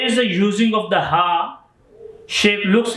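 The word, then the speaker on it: ح: But here is the using of the ha shape, looks like two eye. Ha is pronounced with your chest and with your hearts.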